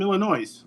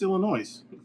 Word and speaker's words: Illinois: And they're like, "Oh, you're from Illinois." And I'm like, "No, what the fuck's Illinois?" Did you pronounce the S?